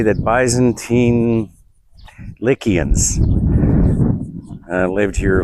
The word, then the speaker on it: Lycia: Anyway, the story is the Lycians lived here. Lycia, pronounced with a K locally.